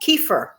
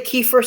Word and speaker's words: kefir: Some people say kefir, some people say kefir. I mean, I know some people pronounce it like the actor Kiefer Sutherland. That's the way I've always known how to pronounce it.